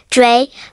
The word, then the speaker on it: drei: Here are the German numbers from 1 to 10, along with their pronunciations, eins, pronounced like eins, zwei, pronounced like tsvy, drei, pronounced like dry, vier, pronounced like fair,